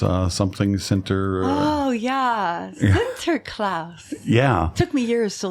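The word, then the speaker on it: Sinterklaas: Oh yeah, center class. Yeah. Took me years to learn how to say it. But I hear all kinds of different pronunciations. Lots of people say centerlouse or center clause.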